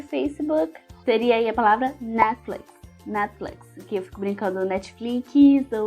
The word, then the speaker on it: Netflix: Mas aí na palavra Netflix, a gente tem essa tendência de falar o T, né, mas na verdade a gente não pronuncia. Netflix. Netflix. No lugar do T tem uma pausa, assim, sabe?